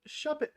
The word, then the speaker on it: Shuppet: And if you were like Raphael, you had guessed Shuppet. Shuppet rhymes with puppet.